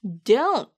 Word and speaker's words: don't: D-O-N apostrophe T를 발음하실 때 끝에 있는 T를 발음하지 않아서 don't 이라고 발음하시면 돼요. don't.